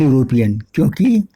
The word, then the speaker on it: European: यहाँ अ यूरोपियन होगा, न कि एन यूरोपियन, क्योंकि यद्यपि वर्ड का फर्स्ट लेटर वोवेल है, ये दिस इज वोवेल, लेकिन इसका प्रोनाउंसिएशन यू की तरह हो रहा है, इसलिए जो ये